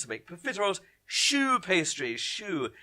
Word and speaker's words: choux: Choux. If you spell it S-H-O-E or S-H-O-O, absolutely fine. The correct spelling is C-H-O-U-X. It's French, but we're not going to pick you up on incorrect spelling.